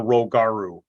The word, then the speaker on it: Rogaru: The people of Arakazine would have been listed as the Araki, Araki, the Kronii, Kroni, the Sueneist, Suenist, and the Rogaru, Rogaru.